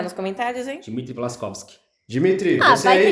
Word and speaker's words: Dimitri: O Aslan deu uma maçã pro Dimitri. Dimitri. Dimitri. É isso aí. Dimitri. Tá bom. A Dimitri. sílaba tônica é no mi.